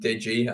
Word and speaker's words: DJI: Yeah, fantastic name, and I did pronounce it wrong at the start yesterday, but he's since informed me that it is indeed Digi, and I think we